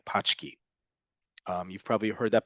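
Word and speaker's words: pączki: Eastern European doughnut um I forget how to pronounce it correctly in Polish but it sounds like pki um you've probably heard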